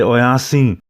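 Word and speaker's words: oyas'iŋ: The next word, oyas-in. Remember to make that pause between the S and the I.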